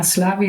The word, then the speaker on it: Szlávi: Like you said, my name is Szlávi, and pronunciation was perfect.